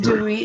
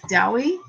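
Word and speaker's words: Dewi: It's not pronounced Dewey in Wales, though.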